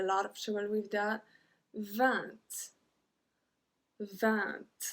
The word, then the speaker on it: vingt: 20. 20. We don't pronounce the G. 20. We don't say vingt. Vingt. I don't know what to say actually. But we say 20.